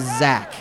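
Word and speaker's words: Zech: teams, and there was a player whose first name was Zach, spelled Z-E-C-H. and it said Z-E-C-H, and then in parentheses, pronounced Zach. Z-A-C-H.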